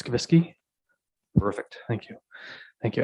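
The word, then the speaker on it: Skubicky: for me sir again it's not the way it's pronounced s-k-u b is in bravo i c-k-y and it's skavisky perfect thank you thank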